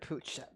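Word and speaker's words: Puig: two on September 18th the P Pooch it's pronounced in Spanish Pooch how get Pooch yeah well it's catalon and that's how you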